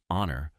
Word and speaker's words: honor: to be here tonight the word honor starts with a silent h so it makes a vowel sound and we use an